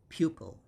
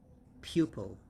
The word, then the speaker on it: pupil: per and just l and the stress is on the first syllable so it's pew pew and po so pupil pupil and 48 this part